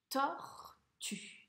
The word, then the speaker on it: tortue: Une tortue. Donc il y a un E muet à la fin parce que c'est un mot féminin.